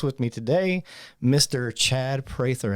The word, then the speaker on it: Prather: The correct pronunciation, if you read it, should be Prather because it's two consonants on either side of a vowel. Gotcha. That's Prather. Yeah.